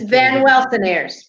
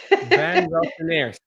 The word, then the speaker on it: Van Welsenaers: Oh, And my last name is pronounced just as it's spelled. It's just long. It's Van Welsenaers. I cannot even spell it. No, Okay. it's it's an easy long name. Van Welsenaers.